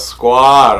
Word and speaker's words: Skwod: getting at Missy vibe is gonna say squad okay that's how you pronounce squad okay look the dance